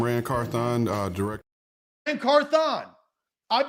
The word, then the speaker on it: Carthon: it's rancorthon foreign carthon he doesn't say rancarthen he says hey I'm Rand carthon uh director and carthon